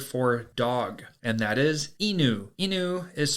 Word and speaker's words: Inu: the Japanese word for dog and that is Inu Inu is spelled I and you and this is a